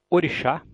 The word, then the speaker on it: orixá: Portanto, em orixá eu tenho certeza de que o chá é a sílaba tônica, em mágica eu tenho certeza de que o má é a sílaba tônica.